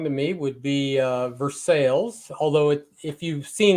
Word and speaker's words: Versailles: nearest little town to me would be uh Versailles although it if you've seen it you would pronounce it Versailles but it for sales here in Missouri and uh but yeah I